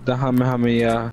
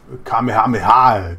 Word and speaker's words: Kamehameha: It was just the Hamehameha. Oh. You pronounced it wrong. How do you say it? Kamehameha. Come on.